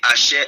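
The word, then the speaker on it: אֲשֶׁר: Il va le dire, je suis celui qui suis, en d'autres termes, Ehe, Hacher, Ehe.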